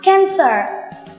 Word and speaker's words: cancer: nói gì không nhỉ bất cứ khi nào mà âm r đứng gần một nguyên âm tức là r đứng đường Y này thì tụi mình phải làm gì cong lưỡi lên đừng đọc là cancer